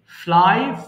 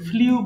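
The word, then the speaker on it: flew: এরপরে ফ্লাই, উড়ানো, ফ্লাই, ফ্লু, ফ্লোন। মাঝখানে এটা কিন্তু সবাই ভুল করে ফ্লিউ বলে ফেলি, বাট এটা সঠিক উচ্চারণ হবে ফ্লু, ওকে?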